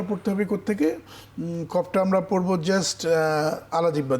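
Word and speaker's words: قاف: ছয়টি যেমন কফ এটা কিন্তু একটু মুশকিল এটা কফটা পড়তে হবে কোত থেকে কফটা আমরা পড়বো জাস্ট আলা জিব্বা দিয়ে কফ কফ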